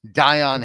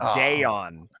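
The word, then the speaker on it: Daiyan: Wazoo cougars they produced Dion Henley uh the linebacker sorry bud it's day on Henley no no the best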